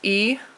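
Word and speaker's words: 一: so one is pronounced e and it's first tone e first tone number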